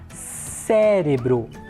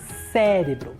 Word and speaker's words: cérebro: bem na próxima palavra cérebro cérebro mais um caso de vogal aberta Então eu tenho acento agudo no é tudo bem